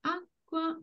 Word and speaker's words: acqua: On the first word, it's on the a, again, the penultimate syllable, and minerale, again, penultimate syllable, minerale, a. Esatto, acqua minerale.